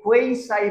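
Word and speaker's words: quasi: আমরা ছোটবেলায় কোয়াজি passive পড়েছি, আপনারাও হয়তো মিসগাইডেড হবেন শুনে। কোয়াজি প্যাসিভ, কোয়াজি প্যাসিভ এরকম বলতাম আমরা। অ্যাকচুয়ালি কোয়াজি বলতে কোনো ধরনের উচ্চারণ নেই ইংরেজিতে, এটা কোয়েসাই বলে।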